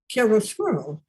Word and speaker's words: chiaroscuro: really I just wanted to get the name of the Fourth Symphony, how you pronounce it, and what it means. chiaroscuro, Okay.